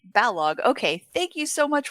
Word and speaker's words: Balogh: The A is short, the H best ignored. So it's like Balogh.